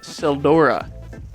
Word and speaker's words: Tseldora: me into Brightstone Cove Tseldora. The T is silent, by the way.